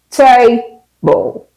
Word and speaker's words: table: They stress every part of the word, and that is wrong.